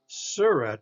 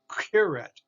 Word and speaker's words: curette: followed by you so it's the hard curette not a suret but a carrot okay so it's that